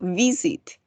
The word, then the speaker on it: visit: For example, visit. Ahí tenemos el golpe de voz en la primera sílaba.